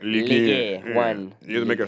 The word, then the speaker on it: Ligue 1: In Ligue 1. That's how you pronounce it. Ligue 1.